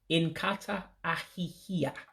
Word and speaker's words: Nkata ahihia: Let me say it right. I said it incorrectly. It's Nkata and ahihia. Waste basket. I forgot a syllable in there. So it's Nkata ahihia.